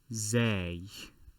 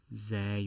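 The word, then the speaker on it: زاي: at the top now this letter is called say or perhaps zay with an e or z with a y depends on how you wish to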